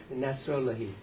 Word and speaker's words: Nasrollahi: Nasrollahi. Nasrollahi.